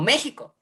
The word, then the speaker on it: México: y xi es y se pronuncie j como méxico gméxico este problema con